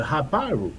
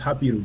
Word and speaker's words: Hapiru: and he talked about the Haparu, or and really it should be pronounced Hapiru, but it's fine.